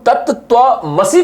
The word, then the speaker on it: तत्त्वमसि: Pronunciate तो हम तत्त्वमसि करते हैं, बट ये असी हो जाता है।